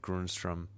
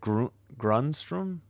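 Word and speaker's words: Grundström: Is it Grunstrom? Gruntstrom. Grunstrom. Gruntstrom. Yeah, but the emphasis is on the grunt.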